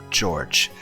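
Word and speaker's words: 譲治: pronounced Ushiromiya George.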